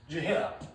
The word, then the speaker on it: Gehenna: Gehenna. Okay? And I put the pronunciation here because it's a little hard to say.